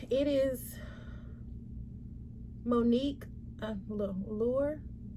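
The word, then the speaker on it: Lhuillier: is monique a little lure i'm thinking maybe that the h is silent lure lahore l-h-u-i-l-l-i-e-r and it's too small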